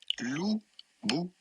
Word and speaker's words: Louboutin: This French brand with a typical French pronunciation, it would be said Louboutin.